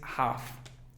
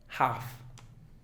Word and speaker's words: half: Porque el estudiante básico pensaría que se pronuncia la L, pero en esta no. Es half, half.